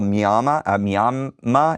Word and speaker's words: Miami: Karen with Indivisible Miama. It's not Miami. It's spelled Miami, but it's not pronounced Miami.